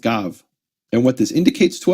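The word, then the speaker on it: גב: This Hebrew word is pronounced as gav.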